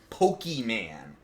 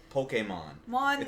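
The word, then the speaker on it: Pokémon: person on TV that gets interviewed and they pronounce it poke man like by this point the series has been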